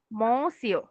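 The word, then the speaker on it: monsieur: উচ্চারণ হবে কি? সিও মসিও মসিও মসিও মসিও মসিও ইয়েস আরেকজনকে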